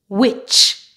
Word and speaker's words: witch: Normally, when you have a word that has T before CH, the T is silent. For example, butcher, catch, match, patch, scratch, witch.